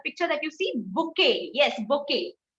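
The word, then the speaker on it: bouquet: that you see yes bokeh have you ever wondered why this has such strange spelling because it is a french word again you we put b-o-u-q-u-e-t it is not buket because it is a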